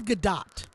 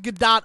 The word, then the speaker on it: Gadot: Apparently, it's Gal Gadot. Okay, I'm fine with that. I mean, like, I've heard it pronounced Gadot on TV when she's being spoken to. So, like, it has to be Gadot, but I don't understand why.